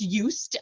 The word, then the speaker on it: Just: you might you might already be familiar but used is a Swiss company it's in the third generation of the eustritch family that's where it gets its name from it's used um like with the sound at the beginning